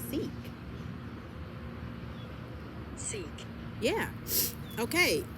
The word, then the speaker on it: Sikh: Pronunciation. It says seek.